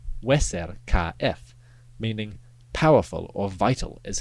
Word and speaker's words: Userkaf: For example, the name Userk should be pronounced Weser KF, meaning powerful or vital is his car.